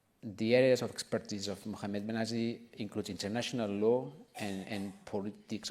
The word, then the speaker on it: Mohamed Behnassi: Mohamed Behnassi. I think that I pronounced it correctly.